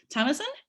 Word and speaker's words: Thamassen: Thamassen? Yes, that's a perfect pronunciation.